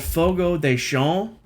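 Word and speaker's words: Fogo de Chão: pronunciation uh it's called fogo deshawn it looks like ciao c-h-a-o but it's pronounced shawn i think okay i think that's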